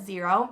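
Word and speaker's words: Xero: those reports but it's x e r o is how you spell it zero and absolutely love using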